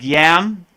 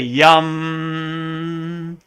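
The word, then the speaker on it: यं: So the next one looks like yam, the heart chakra, but it's really yum.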